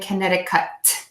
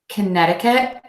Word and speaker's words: Connecticut: cut Connecticut Connecticut Connecticut something I'm doing here with the Chi before I show you my face is that I'm not exploiting that Chi at the end I'm not saying kinetic cut I'm actually just holding that T and I'm not exploding it and I'm doing that by keeping the tip of my tongue behind the back of my top front teeth Connecticut Connecticut Connecticut